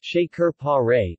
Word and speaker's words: Şekerpare: thick lemon flavored sugar syrup Secor pear is pronounced shaker Perret in Turkish references see also Shekhar parrot checkerboard